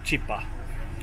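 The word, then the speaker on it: chipa: bułeczka Co to są wymawia się tutaj ją cipa Nie mów tak się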